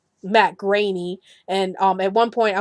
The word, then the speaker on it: Groening: I was about to call his last name brownie so um I'm so glad I actually went